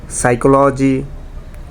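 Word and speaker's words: psychology: একইভাবে সাইকোলজি এবং নিউমোনিয়া এই দুইটা শব্দেরও পি লেটারটা সাইলেন্ট, এগুলোকে বলে সাইলেন্ট লেটার্স ইন ইংলিশ।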